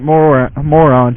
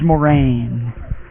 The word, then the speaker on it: Moran: like, Oh, it's not moron, Chandler. It is Moran.